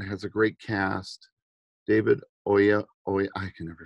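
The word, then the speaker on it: Oyelowo: jolie and and has a great cast david oya oy i can never say his name oh yellow oh yellow thank you um and it's just a wonderful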